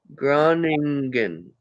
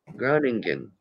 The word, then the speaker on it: Groningen: Groningen. Groningen. I'm going to let my puppy out too. She Yay, I pronounced it right.